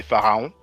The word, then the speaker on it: Pharaon: In French we say Pharaon. So his nickname is Le Pharaon. Literally, phonetically, it's like saying the Pharaoh in French. In French we say Le Pharaon.